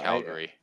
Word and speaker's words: Calgary: people say it like Calgary Calgary instead of Calgary right I think it's Calgary like that's the